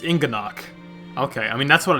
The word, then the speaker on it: Inganock: Yeah, see, I was pronouncing it right. Inganock. It's Inganock.